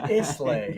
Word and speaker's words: Islay: It's called pronounced Islay.